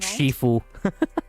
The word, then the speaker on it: Shifu: Shiffue. Yeah, that's the right pronunciation.